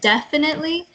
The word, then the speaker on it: definitely: The emphasis is on the first syllable, and then the rest are kind of even. There's no more like up and down. It's just definitely.